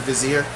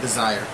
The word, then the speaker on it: vizier: of ronas pitiless vizier i only know how to say to pronounce the word vizier because i played prince purge as a kid and i heard them say it otherwise i would have called it desire anyway magma spray deals